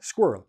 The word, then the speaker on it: squirrel: All you're doing is you're taking out the G, you're putting in the SKW, and you have the same word. Girl, squirrel. A girl, squirrel. A squirrel, girl. Same idea, same pronunciation, and then you play